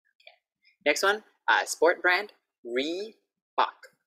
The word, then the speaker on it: Reebok: So now make sure you get the Re versus the Li. So these are good ones to practice together. Li, and then this one, Reebok. La, la, Li, Re. Can you see my mouth? It's quite different.